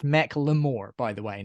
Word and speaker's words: Macklemore: The reason I listen to this is not just because Macklemore bad.